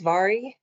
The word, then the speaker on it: Mhairi: My name is Mhairi. That is pronounced with a V, although it's spelled with an M, so you can completely disregard the spelling.